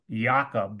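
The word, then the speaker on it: Jakob: wait a minute there's CHF Jacob dis celd yakob disease is how it's pronounced cjd a brain form of what's called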